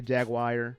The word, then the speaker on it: Jaguar: Jaguar rhymes with car. Thank you. But I'm going to still say Jaguar because I like to.